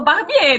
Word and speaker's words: Barbier: Eu falo Barbier, né? Que é a pronúncia em francês.